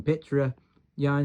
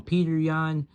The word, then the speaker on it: Petr Yan: And you got to call him Petr Yan. If you call him Peter Yan, then you keep getting his base cards over and over again. It really upsets Winston, so you got to pronounce his name right, or else you get